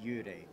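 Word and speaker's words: 幽霊: and his is pronounced Yurei.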